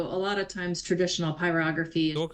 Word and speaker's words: pyrography: So it's pronounced pyography and it literally means to write with fire.